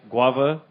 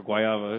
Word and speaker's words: guayaba: This is a cask of Epic Brewing Hopulent with, and there's two ways to pronounce it, guava or guayaba if you're Latino.